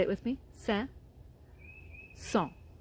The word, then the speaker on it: Saint-Saëns: was from France, and how they say his name in France is two words. It's Saint. Say it with me. Saint-Saëns. Saint-Saëns.